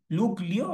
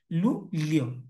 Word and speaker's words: Luglio: লু, লুগ্লিও নাকি লু লিও? তার মানে বেটার হচ্ছে কি লু লিও, এটাই হবে।